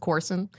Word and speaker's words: Carson: It's pronounced Corson.